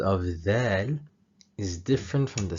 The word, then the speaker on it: د: To pronounce the letter dal, the tip of the tongue needs to hit the upper front teeth.